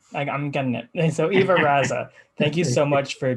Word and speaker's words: Ivo Raza: Ivo Raza is how you say it? That's right. All right, I'm getting it. So Ivo Raza, thank you so much for chatting with me